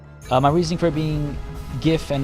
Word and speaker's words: GIF: not GIF is that it's an acronym for graphics interchange format. Well, that's like my go-to as well. It stands for something, and if graphics starts with a hard G sound, then shouldn't its acronym as well, right? But then, of course, the counterpoint is, well, the guy that made the thing calls it GIF.